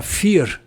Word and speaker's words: vier: É, a pronúncia é F, mas se escreve diferente, né?